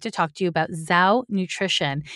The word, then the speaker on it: Zhou: And that is why I'm excited to talk to you about Zhou Nutrition. It's spelled Z-H-O-U.